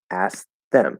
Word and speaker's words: asked: ask them ask them so what actually happens is that t disappears and we might stop it to make it a little clearer ask them ask them instead of like ask them ask them so that stop will kind of make us hear okay there's a t there a little bit where if i don't do the t um and i just say ask them right that sounds like present tense um because i